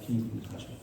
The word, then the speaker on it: Keene: It's actually pronounced Keene.